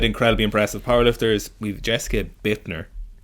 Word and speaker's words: Buettner: Sticking with incredibly impressive powerlifters, we've Jessica Buettner. That's not how you think you'd say it, but that is. Oh, is that how you pronounce it? Yeah, it's I always said Buettner. Yeah, you're wrong.